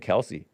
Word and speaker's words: Kelce: people and so he just took Kelsey started pronouncing it Kelsey I don't think he legally changed the pronunciation